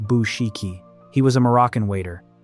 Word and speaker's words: Bouchikhi: The man they killed was named Ahmed Bouchikhi, pronounced Bouchikhi.